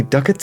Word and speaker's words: ducats: If you'll just hand it over, you shall have 10 golden ducats, rhymes with buckets, says so in the instruction manual, as your reward. Glad to, it's pretty heavy. Oh, 10 measly ducats?